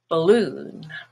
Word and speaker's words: balloon: which is olive but in the word balloon the stress is on loon which is blue and bald becomes bull balloon so let's look at how